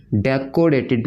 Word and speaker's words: decorated: डेकोरेटेड नहीं, को नहीं, क का साउंड, डेकोरेटेड। कई बार स्टूडेंट से गलत प्रोनाउंस करते हैं, वो डेकोरेटेड कहते हैं, को लगा देते हैं, को नहीं, डेकोरेटेड आधा कर।